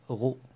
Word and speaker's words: rho: Donc le symbole de la masse volumique et se prononce rho.